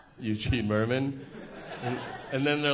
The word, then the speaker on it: Mirman: they're like how do you how do you pronounce it and I was like Eugene Merman and then they're like it's not Barbara riddle